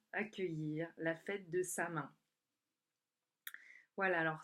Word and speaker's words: Samhain: accueillir la fête de Samin. Voilà, alors Samin qui s'écrit S-A-M-A-I-N ou S-A-M-H-I-N, hein, donc certains disent Samhain.